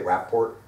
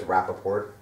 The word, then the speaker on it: Rappaport: I've noticed lately I haven't been saying my name properly. My wife gives me a lot of crap sometimes and says, I say Rappaport. Yeah. My name is Rappaport.